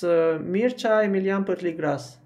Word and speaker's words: Mircea Emilian Parligras: Okay, usually in English I pronounce it Mircea Parligras, but in Romanian it's different, and I'm going to tell you how I'm pronouncing it in Romanian. It's Mircea Emilian Parligras.